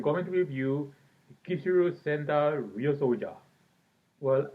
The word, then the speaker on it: Ryusoulger: to review Kishiryu Sentai Ryusoja. Well, actually, it's pronounced, it's written as Kishiryu Sentai Ryusoulger, but I'm gonna say the way it's pronounced.